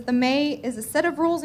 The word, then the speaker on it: me: It's pronounced May, but it's spelled M-E.